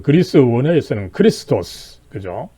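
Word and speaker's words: Χριστός: 이 그리스도 영어에서는 Christ라고 하지만은 독어에서는 오히려 크리스토스라고 이제 또 발음을 하고 있죠. 그랬을 때 아무쪼록 이 크라이스트는 또 조금 이 나쁜 식으로 이 발전한 이 발음법이다, 그죠? 그랬을 때 이 그리스 헬라어 원어는 이 CH가 원래 X로 이렇게 표시가 되죠.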